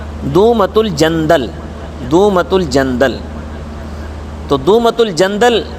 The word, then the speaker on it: دومۃ الجندل: 700 آدمیوں کے ساتھ دومت الجندل کی طرف جانے کا حکم دیا۔ اس کا اصل تلفظ ہے دومۃ الجندل، دومۃ الجندل۔ تو دومۃ